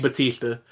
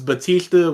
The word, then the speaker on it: Bautista: but his name was Batista when he was wrestling, and it was spelled B-A-T, but his last name is spelled B-A-U-T. So to differentiate them from the wrestler and the actor, DA and I say Bautista.